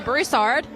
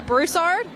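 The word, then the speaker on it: Broussard: the same for me I'm on Instagram Vanessa brussard Vanessa brussard news is the handle then on Truth social it's just my name Vanessa brussard a lot of people ask me all the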